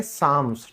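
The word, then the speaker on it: Psalms: फिर है भजन, भजन को इंग्लिश में हम कहते हैं साम्स, ठीक है, जो धार्मिक गीत गाए जाते हैं, दैट्स कॉल्ड साम्स, ठीक है।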